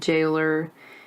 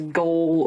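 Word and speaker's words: gaol: Jail and jailer. When I was reading it, the book, I wanted to read it as goal or goalers, but no, you just pronounce it as jail and jailer.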